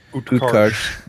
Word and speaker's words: Utkarsh: Utkarsh. Utkarsh. Yeah. So the R is silent.